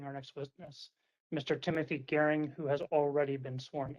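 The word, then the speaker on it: Goering: for the record my name is timothy gearing and the last name is spelled g-o-e-r-i-n-g mr gearing could you please briefly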